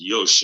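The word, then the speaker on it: よし: y sh is how it's spelled but it's pronounced Yosh and it basically means check right confirm and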